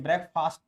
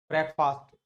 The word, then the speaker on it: breakfast: ये ब्रेकफास्ट नहीं होता, यू डू not pronounce this word ब्रेकफास्ट, you have to pronounce it ब्रेकफास्ट, ब्रेकफास्ट नॉट फास्ट, first.